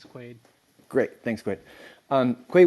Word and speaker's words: Quayd: sounded out correctly yeah it's quite like dennis quaid great thanks quit um